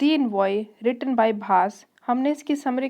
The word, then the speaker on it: भास: तो इसको भाषा नहीं पढ़ना है, वो गलत प्रोनाउंसिएशन है। जैसे योगा गलत प्रोनाउंसिएशन है, ऐसे ही भाषा अगर कह देंगे तो गलत प्रोनाउंसिएशन होगा आपका।